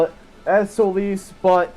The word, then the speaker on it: Solace: Solace is actually supposed to be pronounced Solis. But there's also a word called solace, S-O-L-A-C-E, which is, it still has a good meaning. So solis is the Latin pronunciation and the Latin term of sun. That's why sometimes you'll see just sol, S-O-L. And that means sun in a lot of other languages and stuff. It's solis in Latin, sun. I pronounce it solace because I don't like solis.